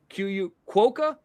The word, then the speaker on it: quokka: Quokka? Kaka. that Amanda, Black Cat, if you're out there. By the way, yes. 21 super stickers. That's right. Quokka. I am saying it right.